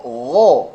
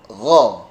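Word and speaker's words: غ: Nah, kha dan gha ini bukan ho atau gho, tetapi kha, gha.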